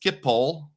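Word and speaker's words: Schiphol: Yuri says it's pronounced Skipipole.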